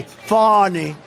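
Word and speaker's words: Fani: funny it's spelled Fanny it's spelled Fanny like your ass right fan but when she became da she decided to add a little French a little fancy fonny fonny and you know fonny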